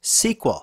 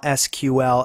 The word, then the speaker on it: SQL: English query language and was in point of fact pronounced SQL now personally I don't care whether you call SQL SQL or SQL you'll find some fairly